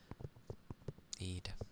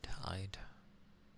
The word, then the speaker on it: Id: I think the only notable thing was that it's like a small thing where they're starting to trust Eid now. I'd. Id. Because it's spelled ID.